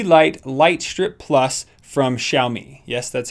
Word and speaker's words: Xiaomi: the aurora ye light light strip plus from xiaomi yes that's how you say it Xiaomi so